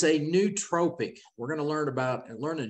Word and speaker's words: nootropic: So it's a nootropic.